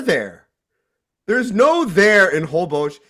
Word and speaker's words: Holbox: Hobos. Holbox. It's spelled with an X, like Holbox.